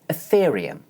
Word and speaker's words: Ethereum: Let's start with the word 'ethereum'. Watch as I demonstrate. As you can hear, this word has four syllables and the stress is on the second syllable.